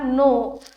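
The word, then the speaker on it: know: के एन ओ डब्ल्यू नो kitten तर यामध्ये के एन ओ डब्ल्यू हा नो जिथं के चा साउंड हा साइलेंट आहे त्यामुळे ऑप्शन नंबर थ्री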